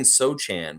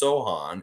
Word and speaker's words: Sochan: Sohan I kept saying sochan but they they it's pronounced Sohan and apparently it's polish um but yeah he